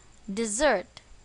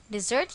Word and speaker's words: dessert: for a dessert recipe where is the stress on the second syllable dessert dessert here means a sweet